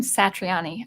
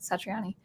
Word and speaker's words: Satriani: Actually, I think he would pronounce his name Satriani. I kind of shorten the A, Satriani. Good stuff.